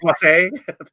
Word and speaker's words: Plasse: Is it the Plasse?